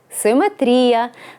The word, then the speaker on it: симетрія: Це симетрія. Наголос на передостанній склад.